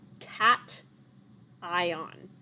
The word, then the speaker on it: cation: it's not like cashew it's cat ion like a cat like the animal a neutral atom could